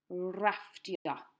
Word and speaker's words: rafftio: Rafftio. Rafftio, again, very similar to the English. Rafftio, just look how it's spelt. Remember, double F makes the F sound in Welsh.